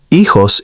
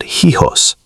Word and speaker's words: hijos: Hijos is not hijos. It sounds more like hijos.